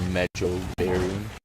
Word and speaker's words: Mejoberry: Not much in the way of marjoberry. Or mejoberry, as some might pronounce it.